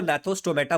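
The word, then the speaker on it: Gnathostomata: ये जी साइलेंट है तो नैथोस्टोमेटा बोलेंगे। अब ये क्या होता है और ये क्या होता है, ध्यान से समझता है।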